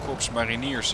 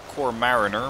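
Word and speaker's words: Korps Mariniers: Wouldn't be surprised if there's the Dutch Corps Mariniers inside. Also known as the Corps Mariner, which, well, I suppose it works, but it's not really the way we pronounce it.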